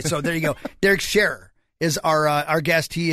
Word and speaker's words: Sharrer: bet how do you say your last name sharer see what did zach say no i i've